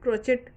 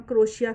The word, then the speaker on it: crochet: हम क्रोशिया समझते हैं, लेकिन इंग्लैंड अमेरिका में इसको क्रोशे बोला जाता है। टी जो है वो बोला नहीं जाता है, साइलेंट होता है वो, तो वहाँ पर ये क्रोशे बोला जाता है। इंडिया में क्रोचेट भी बोलते हैं लोग और क्रोशे भी बोलते हैं।